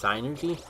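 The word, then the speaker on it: Psynergy: Where the freaking equivalent to magic in that universe is called I guess it would be pronounced synergy. I always pronounce it synergy. With the P, with like a soft P.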